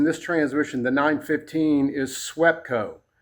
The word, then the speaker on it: SWEPCO: transmission, the 915, is SWEPCO. SWEPCO. And it's spelled just like it sounds.